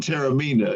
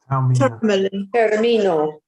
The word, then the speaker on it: Taormina: I've stayed in Taormina. Is it Taormina? Termino. Taormina. Tamino. The O is pronounced O in Italian.